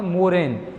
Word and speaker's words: मोरेन: है इसी नाम से, लगभग ऐसा ही नाम है, उच्चारण ऐसा ही प्रतीत होता है, लेकिन उसका नाम है मोरेन।